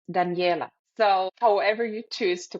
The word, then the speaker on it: Danijela: pronounce your name because I'm going to pronounce it in Spanish which is Daniela but you you you will pronounce it differently right of course uh although I love the Spanish pronunciation it's Daniela so it's in German it's danela in Serbian it's danela so however you choose